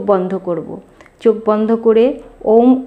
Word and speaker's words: ওম: করবো চোখ বন্ধ করে ওম উচ্চারণ করবো প্রথমে বুক ভরে শ্বাস নিয়ে নেব তারপরে আস্তে আস্তে শ্বাস ছাড়বো ওম উচ্চারণের মাধ্যমে এই ওম উচ্চারণটা করবো তিনটি ভাগে অ প্রথমে করবো অ এর উচ্চারণ তারপরে অ থেকে চলে